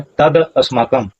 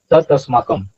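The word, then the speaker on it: तदस्माकम्: अपरज्याप्तम ठीक है और यहां उच्चारण करते हैं तद अस्माकम ऐसा उच्चारण नहीं होगा उच्चारण कैसा होगा? उच्चारण होगा तस्माकम तब यह माना जाएगा।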